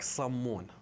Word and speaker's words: sammun: So this bread, we call it in Iraq, sammun. That's literally how we pronounce it.